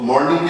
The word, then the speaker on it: morning: Morning ऐसे लिखा है MAW, तो मॉर्निंग की जगह जैसे MORNING लोग O का ज़्यादा यूज़ करते हैं, पर O नहीं होता, ये AW का साउंड होता है.